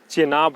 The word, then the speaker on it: Chenab: झेलम मत मारिएगा, झेलम नहीं होगा, ठीक है, चेनाब होगा, चेनाब, चिनाब, ठीक है, चिनाब, CHENAB, चेनाब लगता है इसी यही स्पेलिंग होता है, ठीक है, चेनाब होगा।